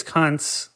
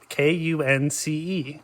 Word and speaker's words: Kunce: Yes, this is Lucas Kuntz, who...